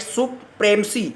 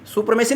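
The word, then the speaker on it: supremacy: तो कहता है कि for decades this had been रहा the seat of white सुप्रेमसी, सुप्रेमेसी नहीं सुप्रेमसी, इसका उच्चारण है सुप्रेमसी।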